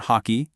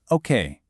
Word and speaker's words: hockey: The H in French is silent and the emphasis shifts just a bit. It's not hockey, it's okay.